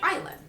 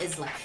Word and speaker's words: island: Sean T is correct it's Island the S actually is silent it's not Island and she continued but